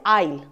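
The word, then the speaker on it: aisle: The first word is आईल। आईल आईल क्या होता है? तो इसको हम बोलते हैं ए आई एस एल इ बट ये ए आई एस एल ई के साथ ये आईल होता है आईल राइट तो जब हम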